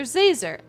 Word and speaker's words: Zazer: It's Professor Zazer. Like laser.